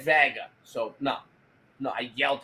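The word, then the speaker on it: Wega: Sony Vega but but officially it's a waga but still pronounced Vega and the logo looks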